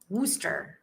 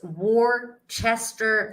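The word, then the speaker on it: Worcestershire: back in the day woster I like booster Charlene stop it stop laughing at my misery Charlene how dare you how dare you it's pronounced War Chester sauce shake my head you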